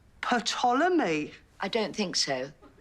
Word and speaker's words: Ptolemy: love this it's called ptolemy i don't think so says it right there it's as plain as the lines on your face the p is silent as in psychopath sharon why is it